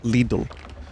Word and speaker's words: Lidl: both that Lidl comes from Germany and is pronounced Lidl. Interesting. I told the chat, we have one on Staten Island. We have a Lidl.